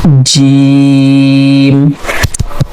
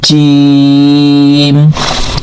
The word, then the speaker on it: جيم: So in the Jim we are using our middle part of tongue. So this middle part to touch with the middle palate. Okay, so from here we can pronounce this letter Jim.